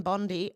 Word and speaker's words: Bondi: takes over but Pam Bondi apparently that's how it's pronounced not Bondi like you do in Australia hasn't been confirmed yet